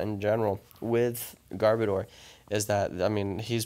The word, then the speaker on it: Garbodor: know what I mean I also really like the pronunciation of garbodor Asgar boater and I think that's how it should be pronounced but I've called it